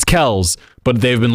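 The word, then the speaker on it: Kelce: viral recently tra the Travis and Jason how pronounced their last name right yeah Kel right it's Kel's but they've been like at this point just call us Kelsey cuz it's just easier for us to deal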